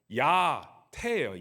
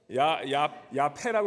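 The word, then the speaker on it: Yá'át'ééh: 그래서 옆에 분 보시면서 야태, 야태, 야패라고 그러지 마시고 야태.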